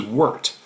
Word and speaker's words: wort: The next word is wort. If you're reading it, spelled like wort, so it sounds horrible, but actually it's a good thing.